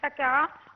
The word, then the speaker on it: Saqqara: Bon, premièrement, j'ai vu que vous prononcez bien l'histoire en disant c'est la nécropole de Saqqara.